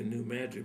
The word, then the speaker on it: New Madrid: It's interesting, they say New Madrid, but it's spelled the same as Madrid, Spain.